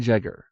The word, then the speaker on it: Jegger: both are correct ingan jegger he is a black rimerman and the J in jegger is sounded just as in Jump Miriam L although born